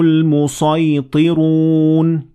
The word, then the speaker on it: الْمُصَيْطِرُونَ: أَمْ هُمُ الْمُصَيْطِرُونَ. So, in this example, it is better or more common to pronounce this word using the sad instead of the sin.